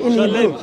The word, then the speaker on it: Elohim: name it's one how do you say God Elohim that is we don't say it um well